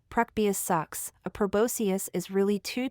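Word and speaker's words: proboscis: tube in the middle called a probos TS pronounced preus sucks a prosus is really two tubes that work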